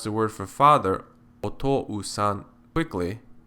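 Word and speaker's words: お父さん: Similarly, if you pronounce the word for father, otou-san, quickly, otou-san, otou-san, otou-san, it sounds like one long vowel sound.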